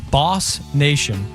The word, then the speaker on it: BOS Nation: BOS Nation will be pronounced Boss Nation, the Boss Nation Football Club.